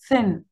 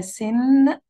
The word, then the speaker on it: thin: عايزاكم برضو تاخدوا بالكم جدا من النطق. ف ف ف ف زي الحروف اللثوية عندنا في العربي زي الث, لازم يكون لساني خارج لبره شوية وأنا بنطقها, لأن لو قلتها سن, لو قلتها سن بقى معناها حاجة تانية خالص, بقى معناها ذنب أو خطيئة. سن, لكن هي thin.